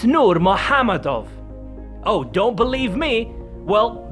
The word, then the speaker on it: Nurmagomedov: Well, not really if you know how to pronounce, it's not Normagomedov, don't go by how it's written. It's Nurmahamadav, oh don't believe me.